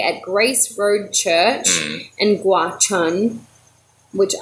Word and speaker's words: Gwacheon: grace Road Church and Gwacheon which I did look up how to say it something like watch on a lot of time